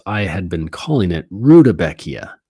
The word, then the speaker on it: Rudbeckia: had been calling it Rudbeckia. How do you spell Rudbeckia? Oh, dang. I've been saying it wrong this whole time. I was calling it Rudbeckia. It's Rudbeckia.